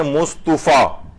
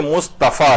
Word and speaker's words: مصطفیٰ: کے اندر ہوتی ہیں، جیسے لوگ پڑھتے ہیں مصطفیٰ، مصطفیٰ نہیں ہے بلکہ مصطفیٰ ہے۔ اچھا لوگ پڑھتے ہیں